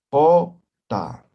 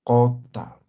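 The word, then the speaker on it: qota: La pronunciación, ¿no? Como si fuera vocal O. Cota, ¿no? Cota.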